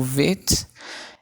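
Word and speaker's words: ב: O bit e o vet é a mesma jeito de se escrever, só que as duas são uma com ponto e outra sem ponto. E o ponto ele diferencia no quê? Na pronúncia. Se for com vet, com ponto é B, sem ponto é V.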